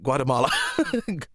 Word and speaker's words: Guatemala: Hello to you from Russia, from Florida, from Guatemala. Wait, did I say that right? Guatemala. I added an extra syllable in there.